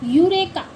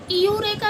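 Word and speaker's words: eureka: इयूरेका नहीं पढ़ा जाएगा। क्या पढ़ा जाता है? यूरेका। यानी कि इ यू जब साथ में आते हैं, इ के साथ यू आ जाता है, तो उसकी वॉइस यू निकलेगी। इयू नहीं निकलेगी।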